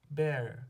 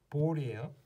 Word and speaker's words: ball: 많은 학생들이 처음 보면 Bell이라고 생각하는 경우가 되게 많아요. A가 에 발음 난다고 알고 있으니까 Bell. Bell 아니에요. Ball이에요.